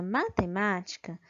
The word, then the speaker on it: matemática: mais forte é a sílaba nê na palavra matemática a sílaba mais forte é a sílaba ama ok